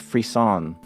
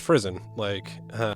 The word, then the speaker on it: frisson: Tell me about your experience with Frisson. Oh, see, that wasn't really how I was interpreting the pronunciation of it. I thought it was pronounced Frizzen, okay, there you go, Frizzen. Like prison.